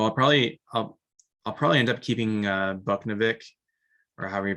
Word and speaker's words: Buchnevich: So I'll probably end up keeping Buchnevich, or however you pronounce his name, from St. Louis. Bushnevich.